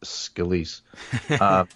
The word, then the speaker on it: Scalise: I'll just I think it's pronounced Scalise.